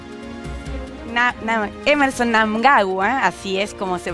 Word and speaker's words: Mnangagwa: la delicada situación política en francés emmerson mnangagwa así es como se pronuncia su apellido o se ha declarado ganador